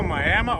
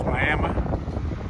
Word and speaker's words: Miami: but here we go this is still Miama Oklahoma that's how they pronounce it here's Miama Oklahoma Mickey Charles man